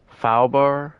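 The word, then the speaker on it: faubourg: Fowlbar. I don't think you pronounce the G on it.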